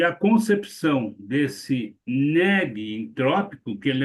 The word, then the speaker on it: negentrópico: Esse negentrópico não é assim que se escreve, tá? É negen, E-N-E-G-U-E-N, negentrópico. O que quer dizer, gente?